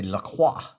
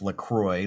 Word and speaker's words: LaCroix: in quebec they say lacroix which is technically the proper pronunciation but for me i grew up my whole life lacroix like c-r-o-y but it's croix so